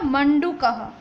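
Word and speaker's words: मण्डूकः: यहाँ पर जो दिखाई दे रहा है वो आधा अण है, मतलब उसको हम पूरा लिखते हैं इस तरीके से अण, लेकिन यहाँ पर आधा है इसलिए उसको प्रोनाउंस किया जाएगा मंडूकः.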